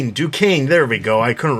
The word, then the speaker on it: Duquesne: Row, Joker's daughter, Cullen Rowe, Elisa Yao, Kathleen Duquesne. I know I'm saying that wrong. Duquesne.